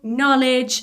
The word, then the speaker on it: knowledge: The same with no knowledge. I don't say cano can knowledge. The K is silence.